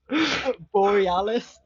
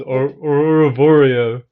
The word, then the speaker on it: Borealis: Borealis. Yeah, that's Is it. it That's it. Borealis? Aurora. Yeah, I the thought it was Aurora Boreal.